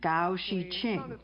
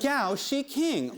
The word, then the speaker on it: Gao Xiqing: This is the fund's president, Gao Shiqing. Yes, it rhymes with ka-ching.